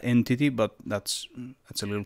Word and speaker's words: EnTT: looking library called enttt i think it's supposed to be pronounced entity but that's that's a